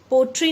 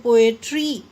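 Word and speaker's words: poetry: Beautiful, वैसे ही metaphor, पोएट्री, पोएट्री, पोट्री नहीं कहते, हम क्या बोलते हैं, पोएट्री.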